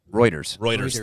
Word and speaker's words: Reuters: It was I never know how to pronounce this. Reuters. Reuters.